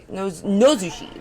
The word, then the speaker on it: Nozushi: Nozushi, that's how you say it. I've been saying it wrong.